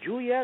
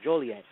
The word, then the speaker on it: Joliet: Is it Juliet or Joliet? Joliet. Joliet, thank you.